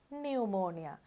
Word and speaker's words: pneumonia: pneumonia කියනකොට අපි දන්නවා මේ පටන් ගන්න තැන තියෙන p අකුර silent pneumonia.